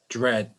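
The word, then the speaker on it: Jreg: So, for the larger context here, the channel spelled J-R-E-G, Grej, whatever you call it, like that.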